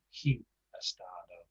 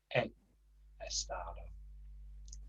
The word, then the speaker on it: he estado: Don't forget, we don't pronounce the H. It's not he estado. He estado.